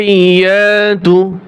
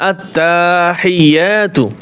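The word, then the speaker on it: التحيات: আত্তাহিয়াতু এই শব্দটার ভিতরে আমরা যে ভুলগুলি করে থাকি এখানে অনেকেই টান দেয় আত্তাহিয়াতু যে আত্তা টান দেওয়া যাবে না প্রিয় দ্বীনি ভাই ও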